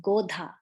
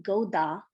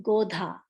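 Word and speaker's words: गोधा: try this iguana is godha godha so here how i'm saying that d h cell godha right i'm not saying goda i'm saying godha godha i hope you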